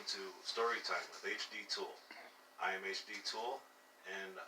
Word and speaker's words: Thul: they're all under hd tool last name spelt t-h-u-l it's not spelt the way it sounded that's why i spell